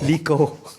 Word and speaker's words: Lico: Lico. Rhymes with Glico.